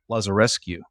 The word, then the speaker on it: Lazarescu: with, make sure I say it right, Lazarescu.